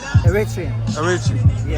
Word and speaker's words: Eritrean: Eritrean.